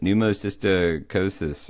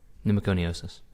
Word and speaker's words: pneumoconiosis: done numos sosis right how do you pronounce that Bricks by the way pneumoconiosis okay I'm going to start that again you were just about four syllables off for of pneumoconiosis so I send you